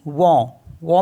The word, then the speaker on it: vent: For example जैसे CENT, तो इसको पढ़ते हम सौ, क्योंकि टी साइलेंट होता है तो सौ हो गया, सौ मिस होता है 100। एंड VENT, वॉ मिस होता है विंड।